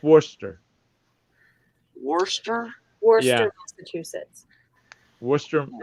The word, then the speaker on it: Worcester: And over in Massachusetts, there's this place called Worcester, Mass. But it's pronounced. I mean, it's spelled Worcester. No, it's not. Worcester. It's Worcester. And Worcestershire? do what? Worcestershire? No, it's just Worcester.